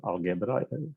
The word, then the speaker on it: Algebra: education institution in Croatia called Algebra or Algebra, how we pronounce it in Croatia.